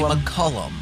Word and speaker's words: McCullum: Just say McCullum. McCullum. Cullum with a Mick.